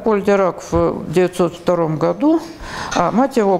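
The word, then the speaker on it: Dirac: крайне своеобразной это поль дирак значит во первых мелкие комментарии по произношению фамилия это французского происхождения поэтому английские правила по которой ударение как правило на первом слоге на нее не распространяются кто говорит дело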